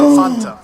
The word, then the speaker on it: Fanta: And there's some other little ones too, like Fanta, as we say it in the U.S. Fanta. It's actually originally from Germany. It's Fanta. So Fanta.